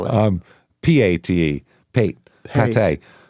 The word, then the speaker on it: Pate: Holly as well as Detective um Oh, he they misspelled Tate.